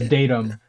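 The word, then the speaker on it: datum: So, pronounced datim.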